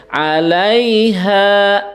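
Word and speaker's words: عليها: Di sini dibacanya cukup 1 harokat, nggak boleh dipanjangkan. Alai, nah itu nggak boleh ya, cukup alaiha, nah gitu, alaiha, nah ya.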